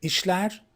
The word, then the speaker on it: İşler: You remember, this letter in Turkish is pronounced sh. Or you can say like S and H gets together. So that's why the pronouns come out like sh.